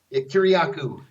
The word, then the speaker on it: Kiriakou: Kiriakou.